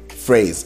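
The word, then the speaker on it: Frase: it it's called phrase not the word phrase It's called phrase I'll spell it out for you f r a s e so when you go to phrase phrase.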